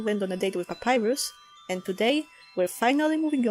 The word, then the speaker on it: Papyrus: but maybe you've noticed, I and many other people pronounce his name as Papyrus. However, the Japanese translation renders his name as Papirusu, which is closer to the papyrus pronunciation which some people use, and by the way, this is how I initially thought his name was pronounced.